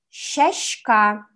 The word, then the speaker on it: сяська: Мягкая с произносится близко к русскому щ, например: сяська "цветок" Но есть один говор удмуртского языка, где это правило не работает (бавлинский говор в Татарстане).